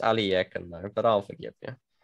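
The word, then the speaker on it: Alekhine: what formation is white setting up here the alakan gun yeah it's pronounced aliyakan though but i'll forgive you no the alakan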